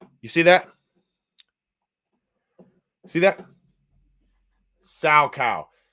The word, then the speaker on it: Salchow: Sow cow. SALCHOW. I might have pronounced it a little off, but sow cow.